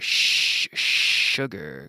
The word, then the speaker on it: sugar: Sí, sugar. Como silencio. Sugar. Ese sonido. Sugar.